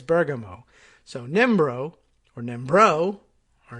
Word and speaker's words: Bergamo: I knew a family it was their last name, and it was Bergamo is how we always said it. But apparently it's Bergamo.